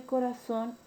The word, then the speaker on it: corazón: Las palabras agudas u oxítonas, cuando la mayor fuerza de voz recae en la última sílaba. Y tenemos el caso de corazón y anís.